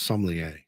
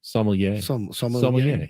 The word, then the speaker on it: sommelier: I thought it was sommelier. Sommelier.